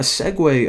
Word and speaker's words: segue: click the button now a segue of course that's how you pronounce that word actually didn't even know